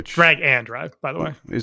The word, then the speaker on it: Drag x Drive: Drag X drive I think which drag and drive by the way. It's just drag and drop.